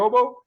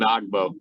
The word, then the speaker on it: Ogbo: he said he he was just getting called oboe and I said hey are you all right with this Colin you're oboe and he's like oh yeah that's my name